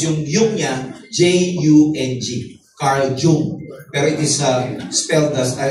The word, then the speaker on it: Jung: Carl Jung. Pero it is pronounced as Carl Jung.